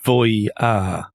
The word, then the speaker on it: Voyah: It's spelled Voyah. It is Voyah, according to Google Translate.